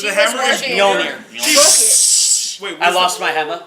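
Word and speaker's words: Mjölnir: Mjolnir. She's- Wait, I what's lost the, my hammer Wait, like, what's the hammer yesterday, so that's still pretty fresh. Wait, what's the hammer called again? Mjolnir.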